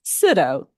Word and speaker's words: Sitto: by the way it's sitto sitto rhymes with widow um so next slide